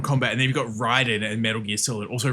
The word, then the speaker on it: Raiden: Um, actually, Raiden from Mortal Kombat is pronounced Raiden, which is always weird to me because you got Raiden in Mortal Kombat and then you've got Ryden in Metal Gear Solid. Also, Ryden is the actual pronunciation of it.